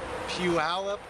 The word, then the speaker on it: Puyallup: who is age 2 from, how do you pronounce it? Puyallup, Washington. Puyallup.